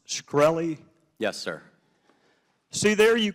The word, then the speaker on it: Shkreli: Carolina uh thank you Mr chairman is it pronounced scy yes sir see there you can answer some